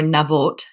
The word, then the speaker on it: Naboth: giving us the framework for naboth's name so Nath uh or navot um is his name